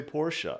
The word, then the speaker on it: Porsche: that correct you like you say por you're like no that's not how you say it you have to say por sh like you know like